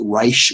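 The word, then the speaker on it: Raich: right case and it spelled RA i CH but I think it's pronounced rice and not H that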